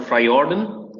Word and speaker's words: Frajorden: So the J is it's a little bit silent. It's called Frajorden. Frajorden, okay. It comes in from Scandinavian. It's a Danish Norwegian word.